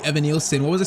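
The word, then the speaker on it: Evanilson: And yeah, someone said I was saying Evanosen's name wrong. It's actually Evan Nielson. What was I saying? Ivon Nilson.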